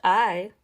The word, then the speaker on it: ae: And you have to ask yourself, well, they're named I, spelled A-E, but pronounced I, like the letter I, for a reason, because it makes you stop and think.